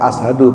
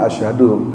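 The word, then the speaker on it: أشهد: bacanya misalnya ashadu ya kedengarnya kayak ashadu padahal dia asyhadu cuman syinnya itu agak tipis karena memang enggak ditahan ya. Asyhadu itu bukan ashadu itu ya ditekan itu karena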